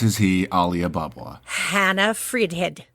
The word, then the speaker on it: Fridhed: how it's actually said how do you say your last name in Swedish F head well I was really close oh my God and